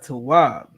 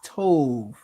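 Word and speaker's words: טוב: Esau claims this is pronounced Tov or Tob. It's not. All right. The letters are what the letters are. You have a ta, a wa, and a ba. All right. There's no O's in Hebrew.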